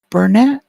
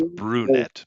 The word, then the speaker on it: Brunette: in chat before as Burnett is that how you say it welcome let me check come hey how you doing hey it's Burnett yeah no I I uh it's brunette by the way brunette uh but yeah